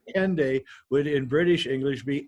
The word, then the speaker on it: Hendaye: What's interesting about the word Hendaye, though, is if you say it in British English, the H is silent at the beginning of the word.